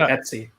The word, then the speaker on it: etc: Well, slash etc. slash hosts. Really, you say etc. Is this like a British thing? I've only ever heard it called Etsy.